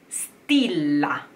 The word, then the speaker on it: stilla: Ogni stilla, rhyming with sfavilla.